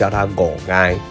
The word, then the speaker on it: ngò gai: Basically, the pronunciation of "Eryngium" in Vietnamese is "ngò gai" ~ This is the pronunciation of South Vietnam.